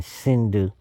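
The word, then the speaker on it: Sindhu: became shindu sh shindu because the Greeks started pronouncing the s in Sindu like Hindu like H that was the Iranian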